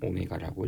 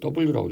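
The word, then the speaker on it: ω: 각속도라고 정렬되어야 읽을 때는 오메가라고 있습니다 나중에 면접 가서 이거 w라고 입지만 오메가라고 읽어야 돼 있어 보이게 동정 원운동이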